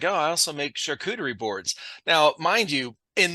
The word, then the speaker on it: charcuterie: I was like, I don't even know what a charcuterie board is.